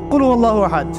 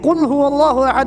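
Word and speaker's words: قُلْ هُوَ اللَّهُ أَحَدٌ: একটা সুরা পড়ে গেলাম কুল আল্লাহু আহাদ, কি কুল আল্লাহু আহাদ মানে কি, এটা উচ্চারণই বা কেমন করে করতে হয়? কুল বলুন, হু আল্লাহু আহাদ, তিনি আল্লাহ এক। এই যে কুল হু আল্লাহু আহাদ অনেকেই বলতে পারে না,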